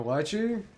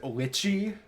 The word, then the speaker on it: lychee: A lychee? Do you pronounce it lychee? I hope that's just the way you spell it because it's lychee. It's pronounced lychee.